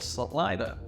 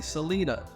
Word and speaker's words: Celina: off with the basics, and that is the pronunciation of Celina. Well, I just did it for you. A lot of people from out of state and out of town say Celina.